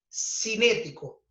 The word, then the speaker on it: cinético: No es fuerza de rozamiento estático, sino ahora es cinético, ¿ok? Con acento en la E, cinético.